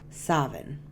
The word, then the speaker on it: Samhain: night of October 31st is called Savin but it is spelled like this it is also pronounced as Sin but I'm going to say the older terminology which is Savin Savin is celebrated on